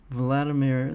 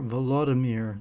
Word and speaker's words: Volodymyr: Hi, it's November 11th, 2025, and I want to talk about Donald Trump and Vladimir Zelensky, or Volodymyr Zelensky. I guess that's the Ukrainian pronunciation, even though his native